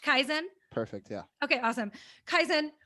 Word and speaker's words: Kaizen: So Brody, Kaizen, is it pronounced Kaizen?